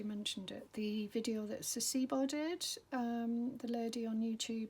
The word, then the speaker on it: Saacibo: It's spelled S, if you haven't already, I'm sure you probably have, but Sasibo is SAACIBO, Sasibo.